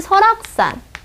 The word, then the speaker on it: 설악: 그래서 내가 가고 싶은 설악산. 발음이 어떻게 나요? 설악 이렇게 나죠. 그러면 서니까 S-E-O 그 다음에 락 모음 앞이죠. 그러니까 락 R 쓰고 이게 끝에 가는 거죠. 그러니까 K 설악 이렇게 된다는 거죠.